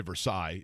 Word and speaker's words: Versailles: last night in high school basketball Milan defeated versales yeah you know or actually they would say Versailles if they were from out of town because